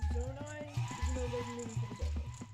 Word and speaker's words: Zonai: Zonai. Yes. The correct correct pronunciation.